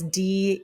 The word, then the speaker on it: Diaz: He was suggested to me on my feed, and I'm pretty sure his name is pronounced Diaz, but it's Deyaz.